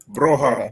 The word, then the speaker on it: Broja: Broja or Broha? Broha. Armando Broha.